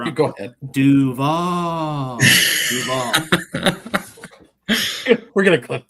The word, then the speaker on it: Duval: Moving over here to Duville County. I'm not going to say that. No, no, no, no, no, no, no. You said it wrong. Go ahead. Duval.